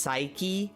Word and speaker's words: Psyche: Also, I got reminded that, like, that word is pronounced Psyche, so technically they're Psyche-Locks, but Psyche-Locks sounds terrible as a name.